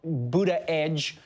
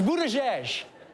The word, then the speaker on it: Buttigieg: struggling with this one it's not Buddha edge it's not bood a J and it's definitely not but tag it's Buddha jesh but now that we're